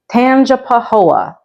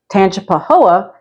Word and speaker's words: Tangipahoa: mouthful it is spelled like that and it's pronounced Tangipahoa and tanap Pahoa is a parish that is just about an